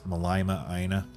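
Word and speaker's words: Mālama ʻĀina: And I'm thinking that since we're basically going for tropical paradise, we should call it Malama Aina or Malima Aina. If you know the correct pronunciation, let me know. I think it's Malama Aina, which, as I understand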